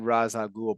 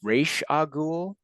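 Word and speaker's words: Ra's al Ghul: It's pronounced either way. Let's be honest. Two I've different always ways you can say I've it. always said Raz Agul, but it's Raish Agul. Like I said, it depends if you're doing the Arabic pronunciation or you're doing the English pronunciation.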